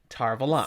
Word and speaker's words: Tar Valon: thursday because it regards how the eye sadai will be pronouncing tarvalan just like that tar of allah that is the official way it's coming out on the tv series yes i don't know